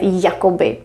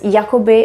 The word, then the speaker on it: jakoby: We don't pronounce it as Jakoby and Jakoby. It sounds exactly the same.